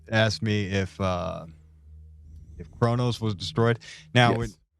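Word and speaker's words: Qo'noS: me if uh if kronos was destroyed now when you hear the pronunciation it sounds like kronos k-r-o-n-o-s right that's what i always hear but it's actually q-u-o-n-s and then also in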